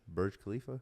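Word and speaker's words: Burj Khalifa: the world how do you say that again bur Khalifa no the other one Bur alab wild [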